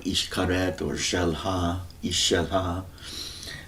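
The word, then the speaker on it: Xcaret: at a place called Ishkaret or Shelha, Ishelha. The X is Ish in the Mayan pronunciation system. It seems like for the Mayans, Ishkaret was a loan word.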